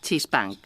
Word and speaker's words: chispang: Es una mala pronunciación de una palabra egipcia. De dos palabras egipcias, imagen viva. Esfinge significa chispang. Es una palabra egipcia. Chispang. Imagen viva. Pues claro, eso eran las esfinges.